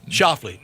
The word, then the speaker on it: Schauffele: I'm going to go with Xander Schauffele. Schauffele. Nailed it. Like the old song, Killing Me Schauffele.